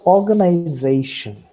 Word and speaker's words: organization: So organization. So what is more important in this word are the 2 syllables. One is or, and the other is zay.